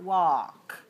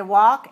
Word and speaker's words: walk: but don't pronounce it walk right we walk and talk and chalk those all have alk but the l is silent walk walk away aware